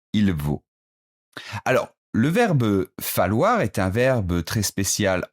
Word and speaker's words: falloir: J'ai bien dit falloir, ça prend deux L, ça se prononce comme si c'était un seul L.